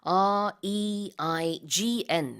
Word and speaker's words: reign: R-E-I-G-N 이렇게 쓰고 발음은 우리 내리는 B처럼 reign 이렇게 발음을 합니다.